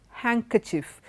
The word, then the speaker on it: handkerchief: sand sandwich not sandwich okay sandwich Wednesday handsome handkerchief in all these letters the D is silent okay and that is how you should